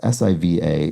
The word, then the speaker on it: Siva: and that also adds Siva is a variant of Shiva and is often pronounced the same way so my suspicion was